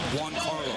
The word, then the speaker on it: Giancarlo: So it's Juan Carlo. It's Jean. So it's kind of like that ZH sound in pronunciation.